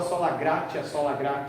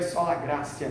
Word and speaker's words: sola gratia: E um tempo atrás eu sempre falava sola gratia, que se escreve assim. O professor de latim chegou para mim falando, essa expressão em latim se lê esse tes, então é sola gratia, né?